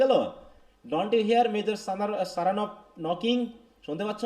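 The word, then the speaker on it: Saranoff: Don't you here major সারানভ knocking, শুনতে পাচ্ছ না? মেজর সারানভ আসছে, bring him round this way, তাকে নিয়ে আসো। হি প্রোনাউন্সেস the name with the stress on the second syllable, সারা, সারা, এরকম আর কি, সেকেন্ড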